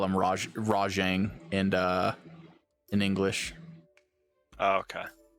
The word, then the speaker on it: Rajang: get a furious uh i pronounce it rajang but it might be rajong uh it so based